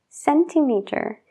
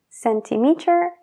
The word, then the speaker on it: centimeter: en cent, de céntimo, centimeter, centímetro, since, desde. Todas estas palabras tienen una C y E, entonces la C se pronuncia como una S. Cent, centimeter, since.